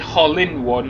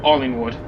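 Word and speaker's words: Hollinwood: Hollingwood is between Oldham and Manchester, so it's Hollingwood, not Hollywood. I'm not going to America. It's Hollingwood with my H's. Or if you're Mancunian, you just say Allingwood, because Mancunians don't pronounce their H's and T's.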